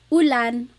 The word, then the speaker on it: ulan: So, ulan, an rain and chair. Uh, ooh. Not like under or umbrella. The letter U in bagal has an ooh sound.